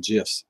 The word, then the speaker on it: GIF: other on the phone gifs and put on Facebook 100% I thought they were gifts for a long time I google it and they said it's pronounced with a J I do not know